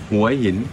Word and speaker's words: Hua Hin: Hua Hin.